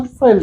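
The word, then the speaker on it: veld: अंग्रेजी में इसका प्रोनाउंसिएशन वेल्ड होता है।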